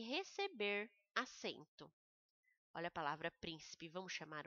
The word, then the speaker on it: príncipe: Olha a palavra príncipe, vamos chamar o príncipe? Príncipe, então o prim é mais forte.